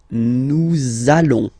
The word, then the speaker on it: allons: it does mean that you will have to pronounce this z sound. Okay, listen to me. Nous allons.